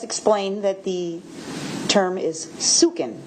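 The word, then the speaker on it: suchen: Upon checking further with investigator Willis, the spelling of the search term that he used, he has explained that the term is sukin.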